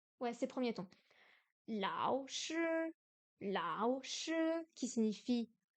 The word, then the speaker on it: 老: Lao se prononce comme s'il se lit en français, si ce n'est l'intonation de la syllabe.